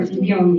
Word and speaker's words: Gion: Gion, if I am not wrong with the pronunciation, Professor Gion, yes, it's right.